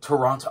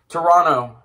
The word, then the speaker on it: Toronto: So, Toronto. Oh, no, I did the American pronunciation. Toronto.